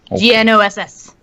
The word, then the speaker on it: Gnoss: Nos. Gnoss. Okay. Nos. Okay. The G is silent.